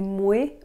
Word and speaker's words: moi: Puis moi, je mets ça comme une folle. Est-ce que vous avez remarqué qu'elle a dit moué au lieu de moi? C'est une prononciation québécoise et canadienne.